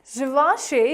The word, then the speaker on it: Givenchy: Givenchy is the correct pronunciation of this luxury fashion brand, Givenchy.